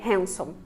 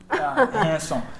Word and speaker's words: Hanson: So you said that you like Hanson. Is that how you pronounce that? Hanson? Hanson. I used to say handsome. Hanson.